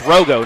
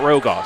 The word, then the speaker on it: Rogo: It's Rogo, not Rogaw. So thank you for the pronunciation change.